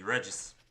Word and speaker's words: Regis: Come on, I have to use the English pronunciation, right? So it's gonna be Regis.